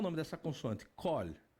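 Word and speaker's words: קול: Qual a pronúncia? Kol.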